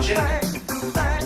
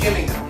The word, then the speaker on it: Gillingham: Because when you come to UKPW in Gillingham, by the way, it's not Gillingham, it's Gillingham. It's spelled with a G, Gillingham.